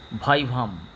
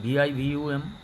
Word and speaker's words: vivum: একটা লাইন বলছি, Latin line, যদি মনে রাখতে পারো, omnis vaivum ex ovo or vaivo. Omnis, omnis, vaivum, vivum, ex ex, ovo, ovo, or vaivo, vivo, or vivo উচ্চারণ করতে পারো।